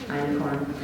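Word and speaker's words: einkorn: so iron corn is awesome it's expensive you spell it e-i-n-k yeah e-i-n-k-o-r-n it's german iron corn um so icon is amazing now when you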